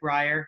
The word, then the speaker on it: Brier: His name is David Brier. I pronounced that correctly, right?